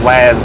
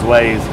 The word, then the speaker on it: Waze: your play store um it's spelled w a y z i think it looks to me like it says waz but it says waze um that right there